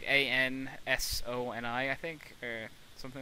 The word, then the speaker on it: Ansoni: Like A-N-S-O-N-I, I think, or something like that. Oh. That's how it would be pronounced.